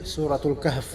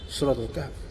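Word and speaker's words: سورة الكهف: Kalau di Indonesia sebutnya Al-Kahfi. Kalau orang Arab sendiri nyebutnya Suratul Kahf gitu bacanya. Suratul Kahf.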